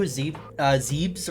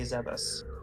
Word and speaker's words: Zebes: When in doubt, go off of Japanese, and the Japanese pronunciation would be Zebus.